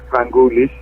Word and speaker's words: Frangoulis: So it's Mario Frangoulis, and that's the way of saying it.